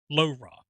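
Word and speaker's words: LoRa: how it's based on a low raw that that's how i pronounce it low raw protocol which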